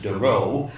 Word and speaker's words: De Roo: Remy's last name um I've been referring to him for years as daru and then I discovered that he often referred to himself as Doo so um and there